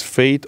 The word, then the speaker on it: F8: if you you know phonetically pronounce f8 is fate or fate which is two words